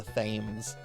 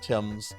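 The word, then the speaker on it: Thames: um I went to pronounce um the Tims as the themes and the professor is just like no it's pronounced Tims I'm like oh Okay.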